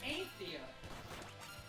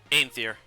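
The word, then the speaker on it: Aenthir: Aether. Aether. Because it's Aether, A-E, okay. so it's A-E, and then Oh. N-T-H-I-R, so Aether. Aether, okay.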